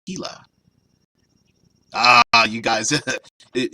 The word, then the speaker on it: Gila: like that oh yeah dead man says Gila blizzard pronounced more like Gila are you guys that